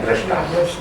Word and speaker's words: दृष्टा: जैसे कि दृष्टा में जब हम लिखेंगे ये रा लगाया तो हमारे उच्चारण क्या हो जाएगा, दृष्टा।